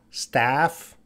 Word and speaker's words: staff: Very different pronunciation. That vowel sound is very different. So this is a staff, staff, and this is stuff, staff, stuff. I know pronunciation is difficult, but these two words do not have the same pronunciation.